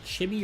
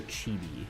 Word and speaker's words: chibi: Is it chibi or chibi? I never know. I've always called it chibi, but I know a lot of people say chibi. one. You say the other pronunciation is cursed. I suppose we could just look at what they say in Japan. Like it is a Japanese word, is it not? Chibi, not chibi.